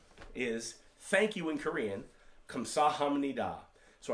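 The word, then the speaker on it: 감사합니다: thank you in korean kamsahamnida so i broke it out again in parts i didn't phonetically spell this one out kamsa ham ni da kamsahamnida and that is how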